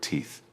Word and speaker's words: teeth: Please focus on the pronunciation of the word teeth. You must place your tongue between your teeth to create the th sound at the end. It is a soft sound, not a hard ta sound.